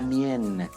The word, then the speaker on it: mienne: Lo mien, la mienne. We pronounce the up to the last n because of this e here.